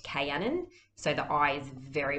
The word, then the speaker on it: Kaianan: see some people have asked me can they pronounce it caianin uh it's really up to you it is pronounced cannon so the eye is very much uh silent